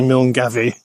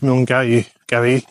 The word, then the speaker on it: Milngavie: how you pronounce it I will say mil gavy it's mil G gav you don't do the V river is beautiful burn